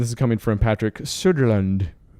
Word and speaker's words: Söderlund: Part of their statement says, and this is coming from Patrick Söderlund. Which is probably pronounced differently. It's Soderland. But he says, quote, "Our Visceral Studio has been developing an action-adventure title set in the Star Wars universe."